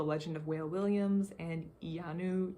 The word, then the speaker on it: Iyanu: of whale williams and iyanu child of wonder yanu okay they have the pronunciation right here and those all also